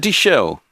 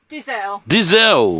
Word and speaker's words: Dizel: Is it Dichelle? It's Dizel. Dizel.